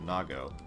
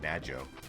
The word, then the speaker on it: Nago: well, I'm pretty sure the cat here is pronounced Nago. But as a kid, we always said Najo. But that is most likely wrong. Nago sounds a lot better.